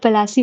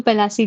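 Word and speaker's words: Plassey: में finally battle of पलासी होता है। ये एक मैं नोट में बता दूं प्लासी जो पलासी है इसका ये इंग इंग्लिश प्रोनाउंसिएशन से इंग्लाइज्ड वर्ड है पलासी ये आता है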